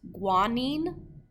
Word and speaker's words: guanine: I included their pronunciations in case you're not sure how to say them. So the first one is guanine.